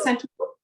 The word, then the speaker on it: Santoku: So I think, again, depending on the size of the food that you're doing, switching to the Santoku, did I say it right? Yeah, Santoku.